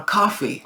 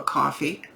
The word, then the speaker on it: Ko-fi: The very basic thing, you can drop me a donation for a coffee, literally. Although it's spelled K-O-F-I.